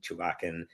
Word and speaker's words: Chuvakin: Anton Chewbaccin. Am I pronouncing that correctly by the way?